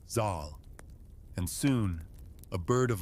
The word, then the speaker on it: Zal: His name was Zal, pronounced with a long a Zal, and soon a bird of legend would hear him, the Simer.